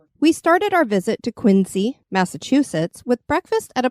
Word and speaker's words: Quincy: city that is because residents of Quincy actually pronounce it as quinsey so we will be pronouncing it like a local oh very good the